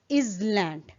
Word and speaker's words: island: Like here is island, and how it is incorrectly pronounced is land. Where the correct pronunciation is island, where S is silent.